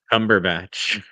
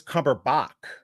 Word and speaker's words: Cumberbatch: It's Cumberbatch. Isn't that what I said? Cumberbatch. I said Cumberbatch. I thought it actually was Cumberbach. I thought it was Cumberbatch. It is batch, but I I can